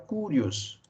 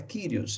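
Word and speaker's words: κύριος: conhecimento básico do grego tem a tendência de pronunciar kurios mas não se preocupem com isso dá pode impronunciar cores sem problema algum em é ou não pronunciar né agora a pronúncia correta na transliteração de senhor é do grego para o português seria kyrios então senhor kyrios é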